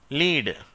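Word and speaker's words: lead: இது லெட் அப்படின்னும் உச்சரிப்புதுண்டு லெட் என்று சொன்னால் அது ஒரு உலோகத்தை குறிக்கிறது. காரியம் அப்படின்னு ஒரு உலோகம் கேள்விப்பட்டிருப்பீங்க. அது லெட் என்று அழைக்கப்படுகிறது.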